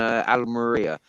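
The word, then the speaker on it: Almería: of uh Spain there's one in Alma Maria a-l-m-e-r-i-a I think it's pronounced yeah that's that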